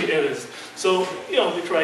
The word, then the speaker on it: Erez: So, my name is Erez. So they go, Erez, Erez. Well, I'd love a raise, chief, but it's actually Erez.